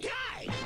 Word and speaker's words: Kai: It rhymes with pie. That's good. I like pie. Got it? I'm King Kai.